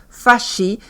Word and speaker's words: fasci: Los italianos llamaron fases que en italiano se dice fashi algunos grupos de trabajadores